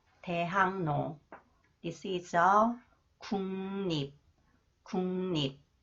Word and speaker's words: 대학로: Okay, and it is a 대학로. Okay, 리을 comes after the final consonants 기역. 리을 is pronounced 니은, and 기역 influenced by 니은 So it is pronounced 이응, 대학로, 대학로.